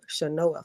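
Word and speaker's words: Chenoa: there is another program by the name of shanoa fund it's spelled c-h-e-n-o-a they offer up to 3.5 percent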